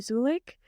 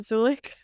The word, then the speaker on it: Zulich: my name is zulik um it's spelled zulich please go with me here and pronounce it zulik for anyone who's confused